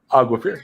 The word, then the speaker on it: Aguafir: Oh, Aguafir. I was like my buddy. She reminds the name reminds me of Aquafina. Aquafina.